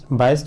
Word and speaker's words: Bayes: बेस या बायस, आपको लग रहा होगा कि मैं दो बार अलग अलग तरीके से प्रोनाउंस कर रहा हूँ, both are same things. बेस भी बोलते हैं, बायस भी बोलते हैं। थोड़ा सा जर्मन मैथमेटिशियन थे तो थोड़ा सा डिफरेंट प्रोनाउंसिएशन अलग अलग जगह देखने को मिलता है।